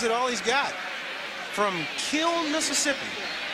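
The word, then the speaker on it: Kiln: all he's got from Kill Mississippi he said there's an in on the end of the kill but you don't pronounce it you just say kill I guess I always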